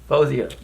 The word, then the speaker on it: Faouzia: Faouzia. That's how you pronounce it. I thought it was fa with the A, Faouzia.